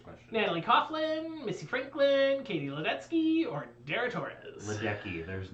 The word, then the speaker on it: Ledecky: Katie Ledecky. It just feels like it should be the Polish pronunciation. But it's not.